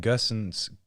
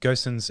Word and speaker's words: Gosens: the other um and gerson's is we're going to get into one of these pronunciation spirals it's okay we got it right now um gossens is very very dynamic